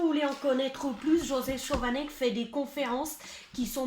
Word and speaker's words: Schovanec: En vrai, c'est dur à dire parce que c'est Chovanec. Ah, Et ça Chovanec.